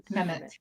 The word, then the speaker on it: Mehmet: Mehmet.